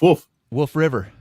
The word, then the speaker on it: Wolf River: to pronounce it again you were missing the l wolf is what a dog does woof wolf river it's a wisconsin thing man tom says that's